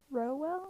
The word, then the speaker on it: Rowell: that would be fun row well i think is how you say it rainbow rowell um